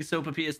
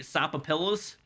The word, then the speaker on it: sopapilla: snipes dopa ps10 more for correctly pronouncing sopapillas thank you i took spanish for a little bit do you think i was going to say supper pillows hostile dropping sopapilla